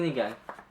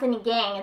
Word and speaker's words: sinigang: And it's so, And it's so, Wait, which one's the Sinigang? It's not sinigang, it's sinigang.